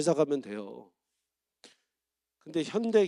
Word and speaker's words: 현대: 현대를 미국 사람들이 뭐라고 발음해요? 현다이, 그죠? 굳이 우리가 막 노노노 현대, follow me 현대.